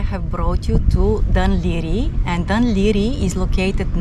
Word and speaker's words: Laoghaire: get something for lunch is irish that's why it's pronounced differently to the way it's spelled the port of the leery has two massive piers